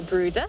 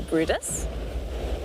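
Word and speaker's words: Bryde's: spelt brides or pronounced brides but it's a norwegian word so we're supposed to say bruda or brutus and then in this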